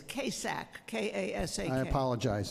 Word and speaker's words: Kasak: First speaker is Lisa Kozak.